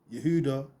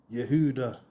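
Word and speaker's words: Yehudah: Yehuda. The H is soft and often drops in pronunciation. Yehuda. Yehuda.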